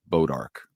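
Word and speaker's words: Bois d'Arc: And if you're a reporter going to that town, they'll tell you as a new person how to pronounce Bodark, Right.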